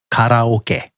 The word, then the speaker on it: karaoke: The next word is one that everybody knows and everybody pronounces a little bit differently, is karaoke, or as pronounced by Japanese people, karaoke.